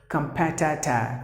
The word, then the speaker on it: competitor: You have to pronounce the word as competitor, competitor, competitor. P should be given more volume. That's the stressed syllable.